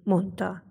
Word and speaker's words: mondta: ugye a monta esetében három különböző mással hangzó találkozik és a három különbözőből a középső a d az ami kiesett és azt mondjuk hogy mondta de ugyanilyen szavak találko